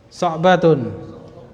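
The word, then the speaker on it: صَعْبَةٌ: Ya, itu lawannya sahlah. Cara bacanya sama. Berarti so'batun. Ya, al-inqiliziyatu lughatun so'batun.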